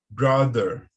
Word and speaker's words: brother: Brother, brother.